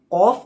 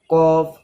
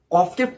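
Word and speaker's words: ق: উঠে গিয়ে উপরের নরম তালুতে টাচ হয় তখন কফ উচ্চারণ হয়।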